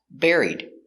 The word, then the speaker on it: buried: And the verb bury in the past, buried. He was buried in the cemetery. Pronunciation, buried. He was buried in a cemetery. Buried. Air. Bear. Bury. Buried. Buried.